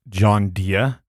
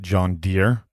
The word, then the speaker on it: John Deere: first of all I I think you mispronounced that it's John Deere not John Deere and secondly you said